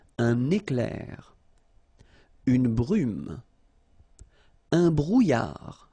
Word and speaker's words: brouillard: Un éclair, une brume, un brouillard. Final D not pronounced.